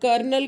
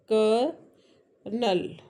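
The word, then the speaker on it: colonel: जैसे कि कर्नल। अब कर्नल के स्पेलिंग में क्या है? कोलोनल। लेकिन जब हम बोलते हैं तो ऐसा लगता है कर्नल। Right? कर्नल। कर्नल। कर्नल है ना? तो ये जो र का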